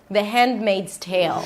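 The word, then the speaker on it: The Handmaid's Tale: The D is a held D. You don't release it. The hand. You move on to the M. The hen made a Z, not an S. Tail. An aspirated T, a long A as in day, and a dark L. Tail sounds like you're adding a Y sound right before the L.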